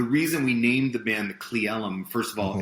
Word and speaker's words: Cle Elum: Cleellum. That's how you pronounce it.